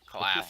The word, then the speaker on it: Claff: Claff. Yeah. Yeah. He's close to the clap, but it's Claff.